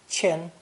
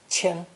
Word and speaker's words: 千: the number four thousand pronounce first tone chin chin this is a phono-semantic